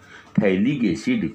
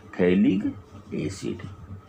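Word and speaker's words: phthalic acid: होता है कंपाउंड का, थैलिक एसिड। क्या नाम होता है, थैलिक एसिड। पीएच साइलेंट होता है ना, थैलिक एसिड।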